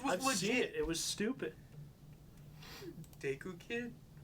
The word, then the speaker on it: Deku: guess i'm an idiot deku is how you pronounce it in japanese apparently okay nice to